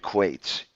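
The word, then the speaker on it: quoits: where the game of quates comes from Game of what now okay it's spelled uh quoi TS but it's pronounced quate and it you have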